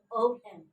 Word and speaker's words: procession: This one, stress mark over s.